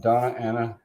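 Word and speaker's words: Doña Ana: Green chili, product of Donna Ana. Is that how you pronounce that?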